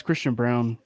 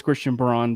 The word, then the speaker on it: Christian Braun: was Christian Braun nah it's Christian Brown phonetically it's Christian Braun but it's brown huh but uh yeah